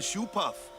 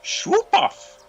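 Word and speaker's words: Shoopuf: Hey, we better hurry or we'll miss the shoe puff. Shoe puff? That's some kind of boat? Yes. It's pronounced Schwoopuff.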